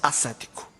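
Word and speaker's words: asséptico: muito estranha era que escrevia-se aséptico e pronunciava acético que o cenário brasileiro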